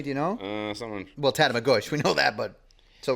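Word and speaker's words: Tatamagouche: For all you non-islanders, in case you're wondering, it's not Tatamagoche. It's Tatamagush.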